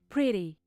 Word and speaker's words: pretty: I Feel Good feel Ok bonita PRY pretty Pretty PR a letra e se pronuncia PR PR pretty tinha um brinquedo que